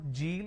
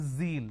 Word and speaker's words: zeal: It's not Jeel, it is zeal. It's a z sound.